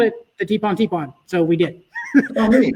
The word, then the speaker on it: Tibon Tibon: What can you tell us about the Warrior Tibon Tibon? Am I pronouncing that correctly?